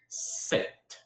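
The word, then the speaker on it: sept: what's funny about it set set you hear how I say set once I was set year old once I was seven years old seven is set in French pretty easy too now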